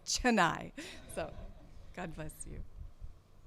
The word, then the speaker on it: Chennai: saying tonight or whatever but they're rotted it's Chennai so god bless you